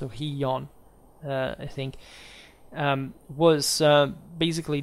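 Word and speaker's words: Gijón: in Astoria was uh jiyon I think it's pronounced oh hiyon I think um was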